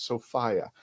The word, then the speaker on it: Sophia: So everybody, the correct way to say her name is Sophia.